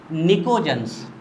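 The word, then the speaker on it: pnictogens: डाली हेडिंग निकोजन्स, यानी को बोलते हैं साइनोजन्स। निकोजन्स, निकोजन्स बच्चों इसमें पी साइलेंट होता है, जब हम इसका प्रोनाउंसिएशन करते हैं ना तो पी इज साइलेंट।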